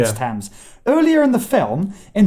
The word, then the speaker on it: Thames: Yeah, and then there's a comedic beat where James Corden interrupts him and goes, "You can't just decide that it's Thames because it rhymes with Ames. It's Thames."